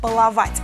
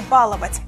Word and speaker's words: баловать: баловать бывает баловать баловать второе слово которое тоже в основном произносят неверно это баловать не баловать ударение считается правильным если она совпадает с ударением в большинстве аналогичных love если рассматривать аналог и слова баловать то мы видим волновать пожинать рассказать нагибать и тому подобное мастерски или мастерски